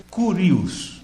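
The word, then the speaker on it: κύριος: A palavra aqui para Senhor foi Kurios, K-U-R-I-O-S. Então, eu vou pronunciar do jeito que foi feita a tradução para o português, né? Kurios.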